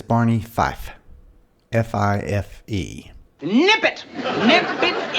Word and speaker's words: Barney Fife: My wife says it sounds like I'm saying Barney Five sometimes. Well, see, I used to say it like that a lot when I was a kid. I thought his name was Barney Five. So, for the record, I do know that it is Barney Fife.